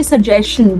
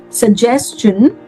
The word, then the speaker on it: suggestion: Now everybody, whenever we have a word that ends with STION, we absolutely do not pronounce it as shun. We don't say question, we don't say suggestion, we don't say digestion or combustion. We rather pronounce it as chun, like question, suggestion, digestion and combustion.